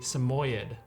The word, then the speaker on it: Samoyed: And the dog that we're looking at is a Samoyed. I pronounced it right?